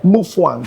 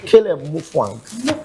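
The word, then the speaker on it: Mutfwang: You know, the T is silent. It's muang from their side. So, so tell me your right. Mwang. Muan. Yes. Mwang.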